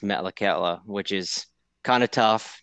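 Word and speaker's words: Metlakatla: grew up in a small town and it's pronounced Metallica which is kind of tough to to pronounce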